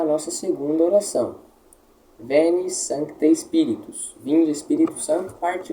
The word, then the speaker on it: Sancte: A letra C aqui, Sancte, ela deve ser lida não forçadamente, nem rapidamente demasiado. Sancte não é assim, nem sancte, como se não existisse.